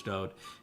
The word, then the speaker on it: Dode: His name is Dode. For people that don't like it pronounced that way, that is the way that he wrote it in all of his own psalms.